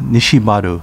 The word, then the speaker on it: Nishihara: was moved to shudi nishihara town pronounced nishibadu in uchinanguchi is where the professional